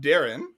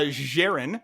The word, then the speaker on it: Jaren: and my wonderful co-host darren my name is pronounced darren sorry uh jaren on this week's podcast